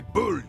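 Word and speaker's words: boule: We are still waiting for a replacement for the bull you sent sinking.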